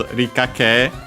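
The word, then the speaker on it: 理科: Yeah, first and foremost, we have this rikake, which technically is a compound, Chinese compound, but a bigger one. From Rika, that one on its own, accent on the first mora.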